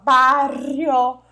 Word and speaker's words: barrio: Então, o trajeto entre o bairro Casa Verde, barrio, ó, e a pronúncia dos dois R juntos, ó, barrio, ¿vale? Barrio.